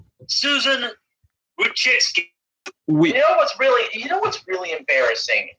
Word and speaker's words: Wojcicki: Susan pronounced Susan Wojcicki.